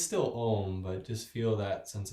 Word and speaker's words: Om: sound of om so om is commonly spelled o m um but the actual pronunciation is a-u-m so it's and it's not alm it's it's still om but just feel that